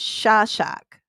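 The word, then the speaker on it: Szaszak: Okay, her married name, I gotta look at this to pronounce it right too, because it's Hungarian, and it's Shashak.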